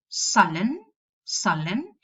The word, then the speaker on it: sullen: So in words such as sullen, you will pronounce a schwa.